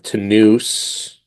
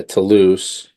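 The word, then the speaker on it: Toulouse: So, we have Tanoose. Tuloose. Oh, yeah. Tuloose.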